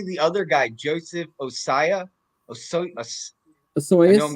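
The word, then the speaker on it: Ossai: how do you say the other guy Joseph osaya oh sorry I know I'm gonna get it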